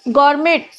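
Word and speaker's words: gourmet: गौर गर्मेट क्या होता है? गौरमे बोलते हैं। इसको में ना टी साइलेंट होता है गौर में।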